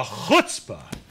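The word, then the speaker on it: chutzpah: me for saying this the HSA to say what he said which almost rhymes with hookah it does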